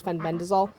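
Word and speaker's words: fenbendazole: Fen Ben Fen bendol I always want to say it wrong but it's Fen bendol so we use Ivermectin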